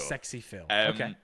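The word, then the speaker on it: SxePhil: e Phil Su is is this supposed to be pronounced like Sexy Phil it's sexy yeah for sure Sexy Phil a lot of his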